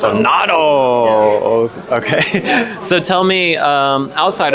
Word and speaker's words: Donatos: But back to Donatos. I still can't pronounce Donatos. Do not say Donato. Yeah, I feel like I've heard it on radio ads. It's like Donatos. Donatos.